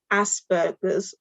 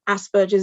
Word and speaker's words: Asperger's: a diagnosis of um asperger's or asperger's is what i like to call it because i like a soft g um which means that